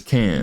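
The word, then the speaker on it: Cairns: team now right yeah and how do you pronounce y'all's team names camps yeah it's can yeah I know it's just bro how do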